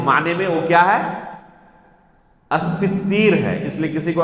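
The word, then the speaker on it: السِّتِّير: ایک نام ہے الستیر، جسے بہت سارے لوگ کیا کہتے ہیں، الستار کہتے ہیں۔ ابھی کہا نا کہ صحیح نطق، صحیح تلفظ سے اپنی زبان سے ادا کرنا، تو صحیح نام کیا ہے، الستیر ہے یا الستیر ہے، سین تا اس کے بعد یا ہے، الف نہیں ہے، ٹھیک ہے۔ الستار اللہ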